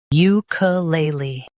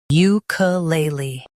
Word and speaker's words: ukulele: ukulele Now, read the syllables shown on the screen naturally. u k lay lee ukulele Stress lay and keep uka light.